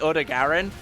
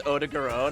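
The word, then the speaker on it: Odogaron: His name's a bit weird because most people pronounce it Odegaran, which sounds pretty cool and menacing, but then apparently it's Odegaran, and you're just like, that's weird.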